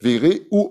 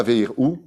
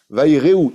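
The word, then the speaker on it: ויראו: Yevalechenu, il nous bénira Dieu, Veire ou Oto, et non pas Veir ou, faites très attention pour les Chazanim ou ceux qui montent Chazan, ou même ceux qui le prononcent, pas Veir ou. Veir ou en hébreu, ça veut dire il voit. C'est pas marqué il voit. Vaire ou, ira, ils craindront, c'est un Jvana, c'est un cheval qui se prononce. La voyelle se prononce E.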